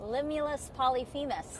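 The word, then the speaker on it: Limulus polyphemus: Limulus Polyphemis.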